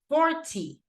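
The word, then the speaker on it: forty: Because you go 14 and then you go 40. So in this case, once again, the stress goes in the teen, second syllable, but in this case goes in the first syllable, okay?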